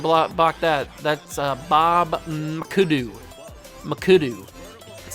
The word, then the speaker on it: McAdoo: McAdoo.